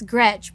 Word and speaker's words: Gretsch: It's Gretsch, but it's spelled Gretsch.